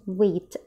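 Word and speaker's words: wheat: اوكي، القمح نفسه ده اسمه ويت ويت ويت. اوكي. و و و الاتش لما بتيجي بعد الدبليو مش بننطقها.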